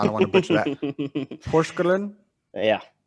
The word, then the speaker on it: Porsgrunn: Yeah, And how do you pronounce that? Porsgrunn. I'm not. Nope. I don't want to butcher that. Porsgrunn?